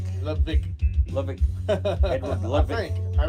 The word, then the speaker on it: Ludwig: Yeah, but I think the W is pronounced with a V. Yeah, Ludwig. Ludwig.